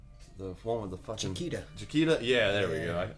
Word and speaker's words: Chiquita: Whenever I was working in the dietary, whenever they got a fresh batch of Chiquita bananas, is that how you pronounce that brand name? The one with the fucking Chiquita.